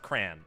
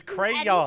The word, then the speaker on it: crayon: ones um oh also it's pronounced cray it's not pronounced cran there is a y in it it is crayon and also you're wrong